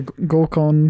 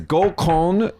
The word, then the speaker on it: gokon: like group blind date, but it's spelled GOKON, and so the what do you say, the habit to read it as gokon, don't do that. Gokon means rape. Oh yeah, don't do that. Don't say it like that. Say gokon, please.